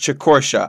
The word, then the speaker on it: Chicortia: Yes, it's pronounced Chicortia. I got it wrong last video.